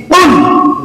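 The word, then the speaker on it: قُلْ: যুক্ত যেটা এটাকে বলে এই কফ যে উচ্চারণ এটা হচ্ছে সহি কুল বলেন কুল কুল এইটা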